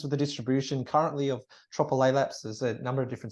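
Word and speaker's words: Tropilaelaps: mind too so tropical laylap smites I encourage you to pronounce that triple laylapse say it to yourself tropical a lab so now you've said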